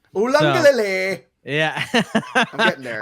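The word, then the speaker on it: Uiagalelei: That's how his name is pronounced. Ulangalele. Ulangalele. Ulangalele.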